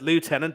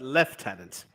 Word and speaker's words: lieutenant: And you don't pronounce it lieutenant, but lieutenant, just like the Brits do.